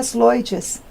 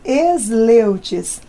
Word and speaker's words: Sleutjes: Seria Sleutjes, mas ninguém fala, abrasileiramos. Ficou Sleutjes.